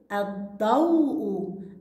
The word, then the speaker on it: الضوء: يلا يا ثاني، الضوء الضوء. هسه مس الإض إيش عليها يا ثاني؟ شدة. وهي اللام لام إيش يا ثاني؟ برافو، لام شمسية، لأنها هي اللام التي تكتب ولا تلفظ.